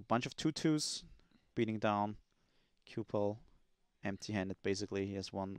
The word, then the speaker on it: Cipal: Cipal is the pronunciation.